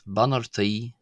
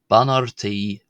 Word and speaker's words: Beannachtaí: and today's topic is Beannachtaí, Bunúsacha, or basic greetings as we'd say in English. Ban R, this is maybe a CH, but before T it can be pronounced quite often as an R.